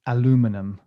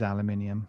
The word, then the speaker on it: aluminium: for american friends is aluminum no and you're all wrong by the way it is aluminium exactly that's okay that's how